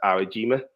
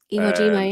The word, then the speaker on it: Iwo Jima: With this photo, so this is it's raising of the flag on, I think it's pronounced Awajima. Iwo Jima, yeah.